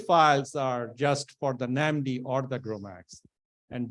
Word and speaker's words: NAMD: an MD for okay it's pronounced as namdi not another name suggestion